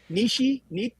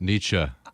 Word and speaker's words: Nietzsche: I've never really known how to pronounce it. I know it. Nietzsche, something like that. Nietzsche. I think you can say Nietzsche.